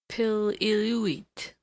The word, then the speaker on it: Piluit: A King's River Indian told me that they call him Piluit, which rapidly pronounced with the first syllable heavily accented, is not unlike the lusty exclamation he utters on his way up a tree when excited.